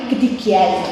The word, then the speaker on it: gigi: Itu jadi kan itu tulisannya itu gigi tapi sebenarnya kalau kita nulis apa ya teks gitu bahasa Osing tulisannya tetap gigi tapi kalau bacanya itu gedigai.